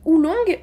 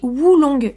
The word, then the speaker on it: oolong: Faut savoir qu'on dit oolong, donc ça s'écrit O-O-L-O-N-G. Ou aussi Wulong, W-U-L-O-N-G, qui signifie dragon noir.